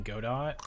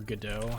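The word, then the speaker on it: Godot: Um because version three is using the game engine Go dot or GDAU, however you want to pronounce it.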